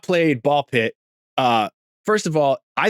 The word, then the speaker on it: Ball x Pit: I think the X is silent. Yes. Or really loud and it's Balk Pit.